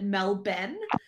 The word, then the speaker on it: Melbourne: martyr um out of melbourne if i'm correct yeah yeah but you have to pronounce it like an australian and call it mel ben now then it's not